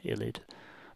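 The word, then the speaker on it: ylide: write that there actually, so illid is spelled illid with an E. Sometimes it's spelled without the E, but you'll probably come across it in your undergraduates with the E, so that can be missing sometimes as well in the how you write illid, but it's pronounced illid.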